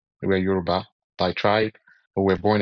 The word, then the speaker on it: Yoruba: We're from the west, which is Yoruba. Well, the proper pronunciation is Yuruba. We're Yuruba by tribe, but we're born in the house